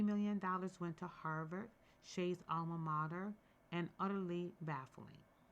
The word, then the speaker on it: Hsieh: Because Shay, Hsieh is pronounced Shay.